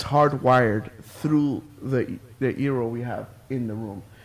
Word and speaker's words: Eero: Rhymes with hero, though, so it must be your hero. Yeah, so Eero is basically they don't want you to call it a router.